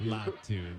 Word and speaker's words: Latu: Latu, is that how you pronounce it? Leatu Latu.